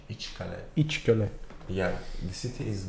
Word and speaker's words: İçkale: Like How do this you is- pronounce this? İçkale. İçkale.